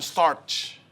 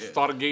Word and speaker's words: storge: Bacanya storge bukan starch. bukan stoge juga bukan.